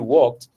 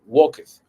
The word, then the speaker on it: walked: O sea, yo he oído mucho, en lugar de decir walked, dicen walketh.